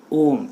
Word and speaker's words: ohm: इसका प्रोनाउंसिएशन क्या होता है आपका, OHM, ओम कहते हैं।